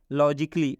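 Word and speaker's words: logically: अब हम इसका उच्चारण क्या करेंगे? लॉजिकली, इन्हें कि लॉजिकली नहीं पढ़ेंगे। इसमें भी आप देख सकते हैं कि ए के बाद डबल एल वाई आया है, इसलिए इस ए का उच्चारण नहीं होगा।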